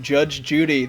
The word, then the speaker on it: JudgeXJudy: podcast I'm here with Judge Judy the x is silent uh why don't you